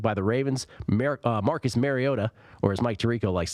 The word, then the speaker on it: Mariota: shutout last week by the Ravens America Marcus Mariota or as Mike Tirico likes to say Marcus Mariota correct pronunciation was sacked eleven times there's seven point